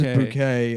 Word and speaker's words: Bucket: Her last name is Bucket, but she pronounces it. She pronounces bouquet and then she's like ashamed of her white trash family.